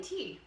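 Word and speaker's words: תה: How do you say tea?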